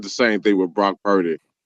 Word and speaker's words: Purdy: change his name because his name rhymes with turdy.